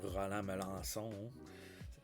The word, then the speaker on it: Roland Melançon: We're going to go with Roland Melançon, or in French, Roland Melançon, without the English pronunciation.